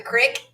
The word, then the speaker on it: creek: hear the sound of the water in the crick which is how a lot of people around here would say creek it's often referred to